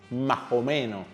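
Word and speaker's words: más o menos: Mas omeos more or less would sound more like momeo.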